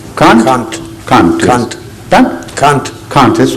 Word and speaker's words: Kant: Pronunciation? Kant? Kant. Kant.